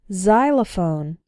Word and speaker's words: xylophone: ex-girlfriend ex-husband or ex-wife when X starts a word then it's pronounced like Z there are very few of these words in English but a couple of them are xenophobia xylophone and Xerox xenophobia means fear of